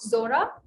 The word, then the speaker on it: Zuora: you pronounce it the first thing so it's pronounced zora it's z-u-o-r-a it's um it's a very famous